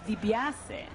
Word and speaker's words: Di Biase: the Italian language and it's DiBiase that's correct that is the correct pronunciation of my name um but a lot